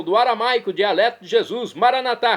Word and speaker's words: Maranatá: E agora eu clamo do aramaico, dialeto de Jesus, Maranatá. como dizemos nós católicos, o maranata, como dizem nossos irmãos separados das comunidades evangélicas ou protestantes. Maranata, eles dizem, nós católicos pronunciamos maranatá.